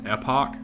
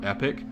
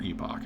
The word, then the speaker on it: epoch: I keep pronouncing it more, so this word is, I think it's supposed to be pronounced epoch. I keep saying it kind of like it were epic, right?